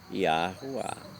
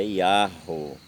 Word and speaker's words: Yahuwah: Mas não há necessidade, porque o H ele não exige uma continuidade de nome, ele é o final, ele está no final de uma pronúncia, então ele fica sem som. Então ele ficaria Yahoo.